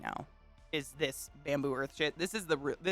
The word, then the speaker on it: Bambu: But this brand, it's called Bamboo Earth. It's spelled BAMBU.